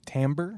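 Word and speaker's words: timbre: Or tambber. Tamber. It's got tambber like for days. Tambber. Hit me with that again. God, you're so beautiful. Who's got tambber like that?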